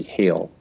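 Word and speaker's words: Geel: is spelled gheel and I think the pronunciation is typically hail and uh she she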